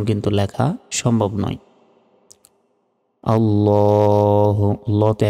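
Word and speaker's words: عَلَى: সল্লি আলা, অনেকে আলা বলি, এই যে দেখুন সরিয়া লয়কারে আলা। তো এইভাবে বললে হবে না, এখানে আইন অক্ষর রয়েছে, আইনের উচ্চারণ গলায় চাপ দিয়ে উচ্চারণ করতে হয়।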